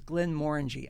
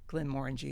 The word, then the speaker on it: Glenmorangie: Let's start with Glenmorangie. So first, pronunciation. I always focus on the fact that it kind of rhymes with orangey, and also the more in the middle part. So it's Glenmorangie.